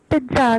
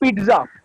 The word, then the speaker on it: pizza: So the pronunciation is जहाँ पे double Z आता है, because this is an Italian word. It is known as pizza. Pizza. तो Z जो है वो बहुत वो it is a very soft Z, and it is not